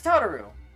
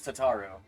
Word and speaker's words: Tataru: can you hear me this is taro or I guess tataru is how your how her name is pronounced your presence is urgently